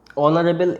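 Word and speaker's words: honourable: এই যে ওয়ার্ডগুলো অনেস্ট, অনারেবল, এই ধরনের যে ওয়ার্ডগুলো, এদের উচ্চারণ, এরা এইচ দিয়ে শুরু হলেও এদের উচ্চারণটা মেনলি কী দিয়ে আসছে, ভাওয়েল উচ্চারণ, ঠিক আছে?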